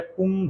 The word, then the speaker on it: कुंभ: तो कुंभ, बिंदी क्या पढ़ते हैं, बिंदी के उच्चारण क्या होता है, कुंभ, म होता है, कुंभ, आधा म, कुंभ।